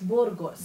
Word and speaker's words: Burgos: the incredible pleasure of sitting down with Burgos from Mexico. Hello. 안녕하세요. 안녕하세요. Hello. Nice to have you. Did I pronounce your name correctly? It was perfect, yeah. Yeah. Burgos. Burgos. Burgos.